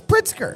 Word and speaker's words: Pritzker: You don't even pronounce the motherfucking Z. It's Pritzker. Pritzker.